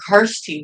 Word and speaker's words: Kirstie: everybody calls her Kirsty, but now I think the real way you pronounce it is Kirsten.